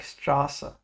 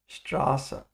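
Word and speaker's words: Straße: it's called s sat it's like a double s and it makes the sound of a sharp s like strassa strassa perfect then we have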